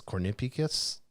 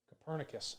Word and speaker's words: Copernicus: the european union's um how do you say this cornipekis connepicus copernicus copernicus climate change service yeah copernicus nicholas copernicus yes yeah there we go they so here's how